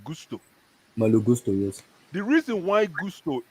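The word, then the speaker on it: Malo Gusto: one kid called who had how do you pronounce his first name Gusto Mal Gusto yes the reason why Gusto people are talking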